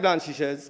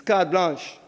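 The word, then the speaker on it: carte blanche: Card blanch. Not like blanch sh some people can't spell that. It's card blanch.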